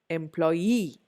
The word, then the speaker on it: employee: Whereas the third one is employee. Employee. I don't say employee. I don't say employee. I say employee. Last syllable.